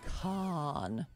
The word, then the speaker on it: Cannes: festival well then you better say it like the locals do it's con um excuse me I live here I say can I'm not an American I'm an American for the French say con JC are you Mexican